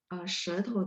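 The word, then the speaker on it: 舌头: Teman-teman bisa baca SHE, nada 2 dengan benar, maka huruf-huruf yang ini, kan dia bunyinya sama, akan baca dengan benar, maksud saya.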